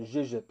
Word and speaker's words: YJXYJP: You pronounce that Zhizhip.